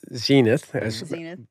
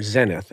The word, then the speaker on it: zenith: company in l.a called zenith we americans say or zenith as the british say okay so anyway um